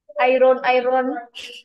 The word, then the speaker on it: iron: Walaupun ejaan bunyi I-R-O-N bunyi iron, tapi sebenarnya sebutannya adalah A-Y-E-N. Sebut. What's my iron? Sebut. A-Y-E-N. Iron, iron.